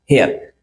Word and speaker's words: heir: एक और वर्ड इसी का जो है कि होमोफोन्स वर्ड है, उसे भी बोलते हैं हेयर, जैसे HEIR हेयर।